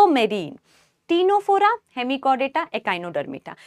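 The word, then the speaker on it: Ctenophora: मतलब है टी से टीनो फोरा टीनो फोरा में बेटा सी साइलेंट है 10 वाला जो आ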